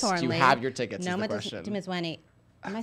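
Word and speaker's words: Noma Dumezweni: Noma Dimizweni.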